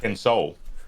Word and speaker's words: Kenso: Noetic says Kenso like soul, not sue like soothe. Kensol.